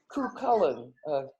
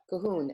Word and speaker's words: Cuchulainn: But he's pronounced Cuchulainn. No, that's not right. Cahoon.